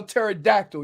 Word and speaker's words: pterodactyl: that you can spell pterodactyl, you clown. It is very impressive. Right? I ain't gonna lie to you. The T will always get you. He always Hey, the P is silent, dumbass.